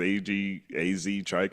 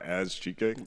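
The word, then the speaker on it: Azchike: Is it AZ Chike? I guess it's AZ Chike and not as Chike.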